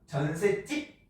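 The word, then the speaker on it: 전셋집: 이때 발음할 때 어떻게 합니까? 전세집 만두국 하는 거죠.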